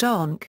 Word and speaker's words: amharc: In addition to a vocabulary typical of other area of Connacht, one also finds words like amhark, meaning to look, and pronounced onk, nimnich, painful or sore, druid, close, mate, here,